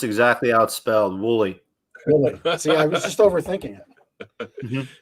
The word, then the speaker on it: Woolley: should be able to say that holy is that right did i mess it up i messed it up pronounced exactly outspelled wooly i was just overthinking it yep don't overthink